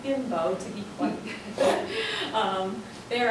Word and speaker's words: Bimbo: so you don't laugh it is bambo be e m b o not bimbo to be quite um